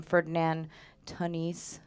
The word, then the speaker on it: Ferdinand Tönnies: And so for community, I'm working off a pretty basic sociological definition that comes from Ferdinand Tönnies.